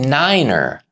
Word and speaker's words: niner: 9 became niner to eliminate confusion with the German word nein, meaning no.